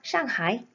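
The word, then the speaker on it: 上海: 션 다이 다시한번 슝 하에 나갑니다 저 상의와 샹하이 아주 묘하게 발음이 닮아 있죠 중국어를 공부하면 알겠지만 우리나라의 말이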